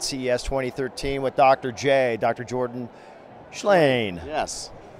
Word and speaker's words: Shlain: Jordan Shlain. Yes. Shlain. It's six letters and one syllable.